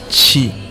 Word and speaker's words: Kigali: Et Kigali, les gars, je prononce Kigali, ok? Les autochtones du pays, ils prononcent ça Chigari, ok.